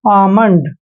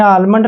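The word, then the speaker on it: almond: डी देखिए यहां पर एम से पहले जब भी एल आता है तो एल वहां पर साइलेंट होता है तो यहां पर हम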